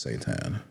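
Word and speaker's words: seitan: So, it's pronounced Satan.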